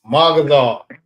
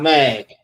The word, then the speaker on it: Magazar: It's MAGAZAR, not Mag.